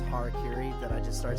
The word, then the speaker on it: harakiri: last week, you're like, that Harakuri there, and I'm like, it's not even remotely how it's pronounced, I'm pretty sure, but I know it's just your Pittsburgh accent slipping in there.